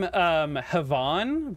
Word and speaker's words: Havon: So I'm pronouncing their name Havon, but Heaven is cool too.